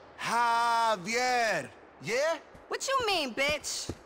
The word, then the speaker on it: Javier: It's pronounced like an H. Javier.